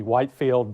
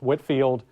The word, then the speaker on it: Whitefield: And I know the way it's spelled, it looks like it would be Whitefield, but I'm on good authority, I'm told it was pronounced Whitfield. He is by far the most famous preacher of the 1740s.